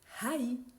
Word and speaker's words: haï: maïs en non encore avec a I et le tréma on a haï air baonnette aoli parmi d'autres et si